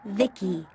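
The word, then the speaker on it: VICI: transistors by the way I'm v-i-c-i pronounced Vicky my Creator was Bibi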